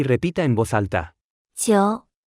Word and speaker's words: 久: 久久久久久久久 Se pronuncia con el tercer tono.